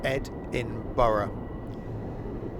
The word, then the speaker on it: Edinburgh: sun is coming up Ed in Borough she must confuse our American cousins but the way that we pronounce things differently to how we spell them so no no it's